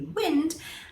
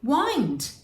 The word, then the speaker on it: wind: that moves in nature that will be wind and if you say it a different way wind to turn something in a circular motion winding up something winding up a clock and w-o-u-n-d would be